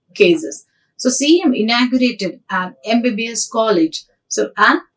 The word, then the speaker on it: MBBS: So CM inaugurated an MBBS college. So an MBBS college, even though the word is a consonant, but the sound of the word when we are pronouncing gets the vowel sound at the beginning.